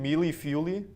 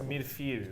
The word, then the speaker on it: mille-feuille: So we're gonna start with a mushroom mealy fuely. You want to try that again? Wait, Joey knows how to pronounce it. It's mille-feuille, right?